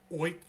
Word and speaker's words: Feucht: But it's a German last name, so supposedly the F is silent. It's Oit.